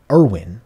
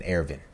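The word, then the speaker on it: Erwin: end of episode 25 Irwin I think we can say Irwin now I'm saying Arvin I'm holding to my German pronunciation we saw some people's comments that said we can say Irwin you can say whatever you want yeah I think Irwin feels more natural to us as English speakers but the dubb right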